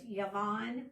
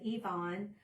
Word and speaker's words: Yavon: It's Yavon with a Y, Yavon. But most people have all my life have said Yvon or Avon.